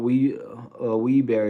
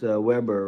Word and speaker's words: Weber: It's not Wee Wee Bear, it's Weber, right?